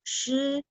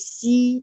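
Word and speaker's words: 师: Cara bacanya saya ulang, lao, shi, SHI bunyinya shi. Dia bukan bunyi si, no. Shi, ya. SH, H itu artinya lidahnya agak diangkat.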